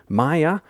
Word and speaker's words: Maia: Maya, welcome to the Solo Role Players podcast.